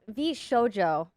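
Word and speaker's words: VShojo: my did I did is um the v v SoJO that am I pronouncing it right V SoJO yeah vjo um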